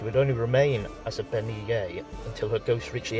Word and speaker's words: bean nighe: In a similar fashion, the Scottish bean nighe (pronounced ben-nee'-yeh) was believed to be a symbol of approaching death, though in vastly different ways from the banshee.